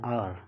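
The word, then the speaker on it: hour: H letter यहाँ silent होता है, और ओ लेटर से साउंड सुनाई देता है, सबसे पहला साउंड आ, यानी आ साउंड एक वोवल साउंड है।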